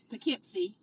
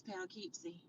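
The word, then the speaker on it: Poughkeepsie: If you're in New York, it's Pipsy. But here in Arkansas, it's Palipsy.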